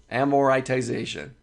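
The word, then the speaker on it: amortization: this one loan amoritization amoritization is how you say that let me click on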